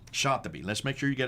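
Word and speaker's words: الشاطبي: Now, how would you pronounce his name? Shatibi. Shatibi.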